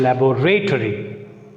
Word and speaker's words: laboratory: And come to the next one, laboratory. Laboratory. So here, though it is a noun, it takes stress on B, second syllable.